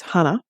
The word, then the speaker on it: Hana: School Madison Baldwin Tate Meyer Hana who I mispronounced her first name is Hana Hana St Juliana and Justin chilling so I wanted